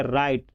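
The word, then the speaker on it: write: का होता है राइट राइट नहीं पढ़ेंगे इसको पढ़ेंगे राइट यानी डब्लू को साइलेंट यानी इतना ही को पढ़ेंगे डब्लू को नहीं राइट ठीक उसके बाद पत्र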